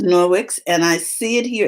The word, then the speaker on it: Norwex: Okay, and so the name of the company Is Norwex? is Norwix, and I see it here in the chat from Robin, and it's spelled Nor.